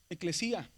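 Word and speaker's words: ἐκκλησία: Eclesía que lleva un acento en la Yota.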